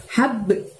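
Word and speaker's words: حَبْ: Hab. Nah, ada ba sukun maka mantulkan ya teman-teman, walaupun mantulnya lebih ringan daripada yang di ujung ayat tadi. Hab gitu bacanya, hab.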